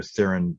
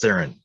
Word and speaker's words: Theron: I've always called her Theron, but it's Theron. It's Hmm. anyway, emphasis on the th.